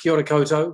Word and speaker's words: kia ora koutou: Well, kia ora koutou. Yes, that's a fairly good pronunciation. Yes. We say in my country, New Zealand, kia ora koutou, which is Māori for greetings to you all.